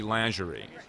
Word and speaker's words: lingerie: called trashy lingerie or or or was pronounced correctly trashy lerie um I say lery and people give me but that's the way it actually is pronounced but am people give